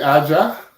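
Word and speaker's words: A'ja: I say Aja. Aja. Okay, Yeah. because A apostrophe J A. Hey, yeah.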